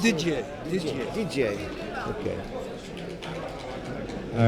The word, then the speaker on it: Didier: what d d d DJ DJ okay all right DJ has a DJ I was just informed uh is the right pronunciation didn't hit him just